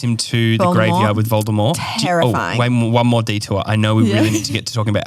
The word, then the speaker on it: Voldemort: people know is that Voldemort the t is silent it's a French word why did they why